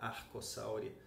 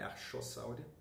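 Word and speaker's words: Archosauria: Em roxo a gente tem os arcossauros, que chama Arcossauria em latim, lembrando que CH se pronuncia K e não X, não é Archossauria.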